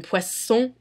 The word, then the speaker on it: poisson: However, in words very similar to that, where there are two S's, an S is pronounced as an S. Like in poisson et dessert.